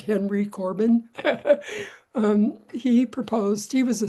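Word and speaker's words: Henri Corbin: French philosopher Henry Corbin we would pronounce that Henry Corbin he proposed he was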